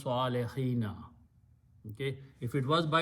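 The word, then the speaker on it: الصالحين: we have learned that in a plural vow changes into a yah so it becomes swallo hina okay if it was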